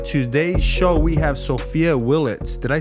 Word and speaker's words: Sophia Willets: everybody so on today's show we have so sopia Willet did I pronounce that right yes so Sophia you're a